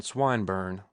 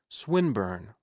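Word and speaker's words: Swinburne: swatted meant this man swine bur he began attempting to put his plan into execution and pronouncing the the eye long who swinburn he repeated with the same mispronunciation the poet swinburn she corrected yes that's the chap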